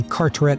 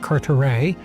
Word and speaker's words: Carteret: So he also corrects our pronunciation of Sacheverell, which I still can't say, and Carteret, as he says it should be Carteret, not Carteret.